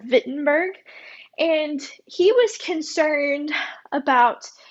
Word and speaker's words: Wittenberg: of wittenberg in germany now remember we're talking about germany so they pronounce their w's like these so he taught a scripture at the university of wittenberg and he was concerned